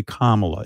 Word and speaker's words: Kamala: with mispronouncing your name they they act as if they can't say kamla it's not that complicated what what's going on